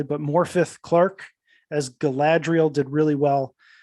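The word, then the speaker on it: Morfydd Clark: around here and then I had to practice my Welsh a little bit to be able to pronounce uh this name correctly but morpheth Clark as Galadriel did really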